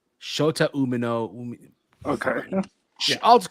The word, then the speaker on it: Shota Umino: It was between Moxley, Claudio, and Shooter Umina versus Tanahashi. How do you pronounce it? How do you pronounce it? Hold on, no. How do you pronounce it, Kaden? Yeah. It's Shota Umino. Shota Umino.